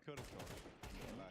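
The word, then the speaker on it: kürtős: Say kürtös. Kurtosh. No, you have to a little bit of the Kurtosh. Kurtosh. There you go. You need to be in the Balkans to be able to pronounce it.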